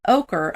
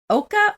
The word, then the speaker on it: ochre: So I don't know if you're supposed to pronounce it Oka or ochre. But again, but it's ochre to me.